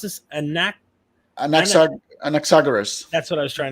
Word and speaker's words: Anaxagoras: How do you pronounce this? Anaxagoras.